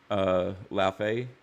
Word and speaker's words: Laufey: And I'm gonna look up the chick that actually plays, and it's pronounced Laufey. Laufey is the name of the game, God of War Laufey.